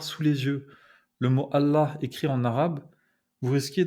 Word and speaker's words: Allah: Il faut prononcer Allah, et pas Allah.